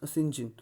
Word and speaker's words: St. John: Their names are Mary, Diana and St. John, pronounced as Sinjin.